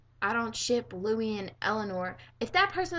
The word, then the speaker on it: Louis: deal about Eleanor and Louis. So that automatically makes you a Directionator. The first time, if you've ever had anybody ever see you pronounce Louis' name like Lewis, well, guess what?